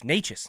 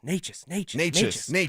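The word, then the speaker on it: Nečas: It's Necas, Necas.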